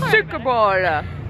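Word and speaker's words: Suikerbôle: I just realized it's 5:30 that I forgot to buy sugar bread, or make me pronounce it. Make Suckerballe. Suckerballe. Suckerballe. Suckerballe. Sorry, better. It's Suckerballe.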